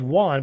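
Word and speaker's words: Joan: actually he's Catalan Catalonian his name is Juan but it's spelled Jo en and any of it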